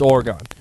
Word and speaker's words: Oregon: No wonder everyone says it wrong. If you're from Oregon, I'm sorry. Oregon. It's Oregon.